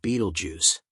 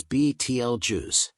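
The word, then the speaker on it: Betelgeuse: He brought over his constellation book, pointing to Orion, and Marco had mispronounced Beetlejuice. It's BTL juice. Henry's voice came from across the room, quiet but certain. Not Beetlejuice.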